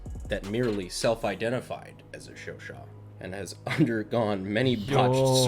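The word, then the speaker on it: Chauchat: So, according to my comment section, I believe it's pronounced Shoshaw.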